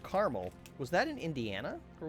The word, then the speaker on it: Carmel: I seem to recall a place called Carmel.